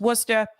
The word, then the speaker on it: Worcester: For those of you who are not from the area, it's spelled Worcester, but it's pronounced Worcester.